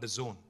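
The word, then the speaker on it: DAZN: is another very interesting and exciting company called The Zone it's pronounced the Zone but it's spelled d-a-z-n now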